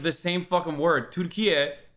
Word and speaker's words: Türkiye: Türkiye is how you say turkey in Turkish, and it has nothing to do with the actual animal turkey at all.